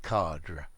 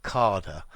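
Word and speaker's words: cadre: frame and in english in my accent i would always say cardra cardra so your r-i-u-h but i believe a lot of americans um spell it um or pronounce it this carder uh way let's see okadra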